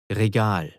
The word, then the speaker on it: Regal: Regal. Again. Regal. To spell that using English letters, it's R-E-G-A-L.